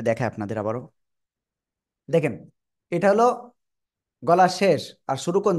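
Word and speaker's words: ح: এটা আমরা বলবো হলো গলার মধ্যখান থেকে হালকা চেপে পেয়ে আমরা এই অক্ষরটা উচ্চারণ করব আর এক আলিফ টেনে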